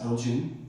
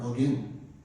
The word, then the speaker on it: Elgin: uh by the way it can be pronounced Elgin or Elgin Elgin was started in